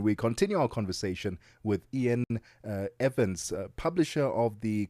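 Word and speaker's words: Iain: It's it's Ian.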